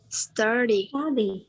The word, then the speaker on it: study: We have 2 syllables. Study. And the accent is on the first one.